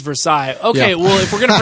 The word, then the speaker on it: Versailles: __ ] about Versailles Kentucky sure technically it's Versailles okay well if we're gonna renounce everything French